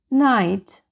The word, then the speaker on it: night: сказала Отже зачитаємо слова Night Light Flight Night Bright right High tight Отже g h не вимовляється і можна сказати що